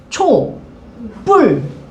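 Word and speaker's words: 촛불: 근데 얘 발음하면 어떻게 발음하는데? 초, 뿔. 얘 된소리 되지.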